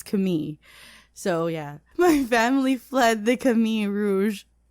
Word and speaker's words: Khmer: So if you're wondering why I'm pronouncing Khmer like that, I was looking for the proper pronunciation, and then I saw the actual pronunciation written by locals that it's Khmer.